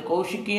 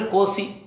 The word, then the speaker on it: ಕೌಶಿಕಿ: ಕೌಶಿಕಿ ನದಿ ಅಂತಂದರೆ ಕೋಸಿ, ಇವತ್ತು ಕೋಸಿ ರಿವರ್ ಅಂತ ಕರೀತಾರೆ, ಅದರ ಸರಿಯಾದ ಉಚ್ಚಾರ ಕೌಶಿಕಿ ನದಿ ಅಂತ.